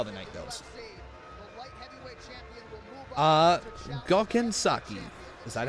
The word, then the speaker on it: Saki: I know Saki. That's how you pronounce his last name.